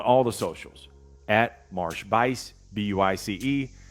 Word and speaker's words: Buice: I'm on all the socials at Marsh Buice, B-U-I-C-E. It sounds like B-I-C-E, but it's spelled like juice with a B in front.